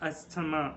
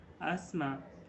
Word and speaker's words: asthma: Okay, it is not asthma. It is not asthma. Instead, it is asthma. Asthma. Okay, asthma.